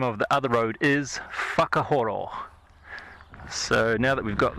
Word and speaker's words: Whakahoro: yes, just in case you were wondering, the pronunciation of the name of the other road is Whakahoro.